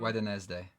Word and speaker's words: Wednesday: Yeah, no one says Wednesday the way it's spelled. True. Wednesday.